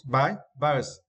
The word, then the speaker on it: bias: And for this words, we need to stress the first syllables. Bias.